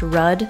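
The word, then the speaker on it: Rode: The one that I'm currently using is a road microphone, which I believe is actually pronounced RUD, but I I think most YouTubers just call it road.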